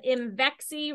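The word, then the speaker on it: Imvexxy: It's called Imvexi, rhymes with I'm sexy.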